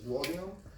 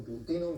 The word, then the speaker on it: duodenum: We'll talk a lot about what happens in the first one, is duodenum. Or duodenum, depending on how you pronounce it, I'll just say duodenum, okay?